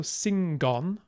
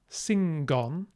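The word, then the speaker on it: singan: gold that is good after an N is pronounced the same way so singon singon and remember to say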